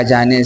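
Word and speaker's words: ضِ: ज़ेर के आ जाने से अब इस ज़आद को ज़द नहीं पढ़ेंगे।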